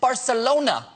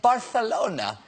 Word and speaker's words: Barcelona: The Catalans also pronounce it Barcelona, while the rest of Spain keeps saying Barcelona.